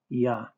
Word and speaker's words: יה: commats under the yud map in the hay pronounced ya the full form H3068 dishes forte in the W a double W therefore Three syllables.